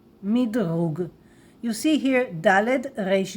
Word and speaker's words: מדרוג: Everybody will understand you, rating, but please say it in a Hebrew pronunciation, rating. Rating, rating, rating. And there is a Hebrew word, 100% word, midrug, midrug.